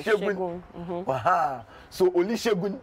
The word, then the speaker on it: Segun: S in Yoruba is Sha. Yes. So you see the name Segun, you say Segun, yeah, by Shegun.